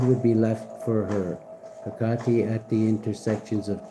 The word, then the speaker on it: Hecate: Hecate. Past life healing, Pisces. It's safe to speak. Set your inner witch free. Hecate is pronounced Hecate or Hecate.